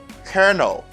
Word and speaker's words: colonel: The colonel, you see the pronunciation is really different than the writing of the word. Di vraiment différent de orthographe mot, the spelling of the word. It's different than the pronunciation.